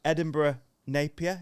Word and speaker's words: Edinburgh Napier: I don't think we've covered, but the Edinburgh Napier, is that how you say it?